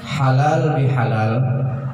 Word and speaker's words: halal bihalal: Nah, perlu kita ketahui halal bihalal itu bukan bahasa Cina, bukan pula bahasa Belanda. Halal bihalal itu adalah bahasa Arab. Halalun bihalalin. Nah, lalu kita matiakan bacanya halal bihalal.